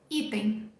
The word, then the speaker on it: item: o português te ajuda a sílaba tônica item no inglês é a primeira que é mais forte também a primeira que atônica